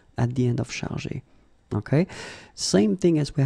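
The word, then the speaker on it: chargés: In both cases, you don't pronounce e and you don't pronounce s. So it will go like chargé, okay, for all the versions.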